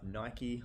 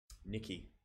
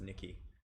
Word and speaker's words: NYKY: NYKY or Nike, or I forget how to say this, but I got it wrong last time. Nikki, that's who it is, Nikki.